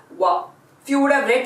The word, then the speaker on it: は: is very much right the pronunciation of this character is ha only but only in exceptional cases it is read as wah if you would have